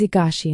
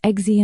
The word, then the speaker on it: Egashi: "It is Egashi and Volquin." Daisy, flustered, apologized and then charmingly mispronounced their names again as Exy and Volguin.